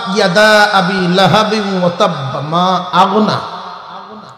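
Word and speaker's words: مَا أَغْنَى: তাব্বাত ইয়াদা আবি লাহাবিন ওয়া তাব্বা মা আগনা। মা আগনাটার কয়তাল কয় মায়া আগে না, মায়া আগে না।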